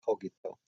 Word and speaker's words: cogito: Or the people pronounce it the modern sophagy. The Romans would have pronounced it cogito.